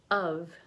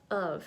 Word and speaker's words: of: is that you see I didn't pronounce V here it is supposed to be of of right V of right here but I skipped it a cup of coffee